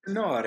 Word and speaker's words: tenore: I'm saying this right, Tenore? How do you say Hey, it? you got it. Yes? Tenore. It's the Italian word for Tenore. tenor.